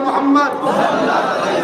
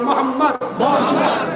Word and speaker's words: মোহাম্মদ: আপনারা সবাই একবার বলুন মোহাম্মদ আপনারা একবার উচ্চারণ করুন মোহাম্মদ খেয়াল করে দেখুন নবীর নাম নিলে দুই ঠোটে ঠোট ঠেকছে। বলুন মোহাম্মদ আমার নবীর নাম চুমা না দিয়ে পৃথিবীর